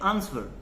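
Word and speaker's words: answer: you also call it आंसर know that is रंग आंसर नहीं होता है इसमें जो होता है ए एन एस डब्लू ई आर डब्लू को नहीं बोल रहे हैं वी आर कॉल इट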